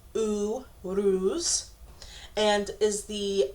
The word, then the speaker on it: Uruz: in the major Arcana phonetically it's pronounced ooh ruse and is the U